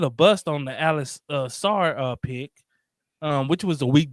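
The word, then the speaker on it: Sarr: Is it Sar or Scar? Sar. S-A-R.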